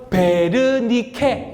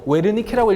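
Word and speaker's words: Wernicke: 여기는 프랑스 아니고 독일 의사 베르니케. 이게 원래 W 시작해서 웨르니케라고 읽는 것처럼 보이지만 베르니케라고 있습니다.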